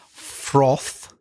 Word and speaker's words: froth: Froth. Froth. The F and the R together. Bit difficult, even for native speakers sometimes.